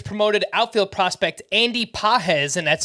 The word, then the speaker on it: Pages: case the Dodgers promoted Outfield Prospect and Andy pz and that's spelled p a GES 23-year-old mostly known for